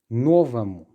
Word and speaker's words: новому: Just pay attention to the pronunciation. Even though there is a letter or there in the ending or mu, I am pronouncing it as новому. Yes, so it's an R because it's reduced, because it's the first or новому that is stressed.